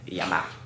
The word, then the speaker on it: llama: That is how you spell it. Llama. Yama.